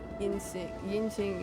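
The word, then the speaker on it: Yingxing: Yinxing is how you say it.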